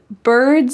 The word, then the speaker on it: bird: We already talked about the word bird and how it uses that colored R, that hard R sound.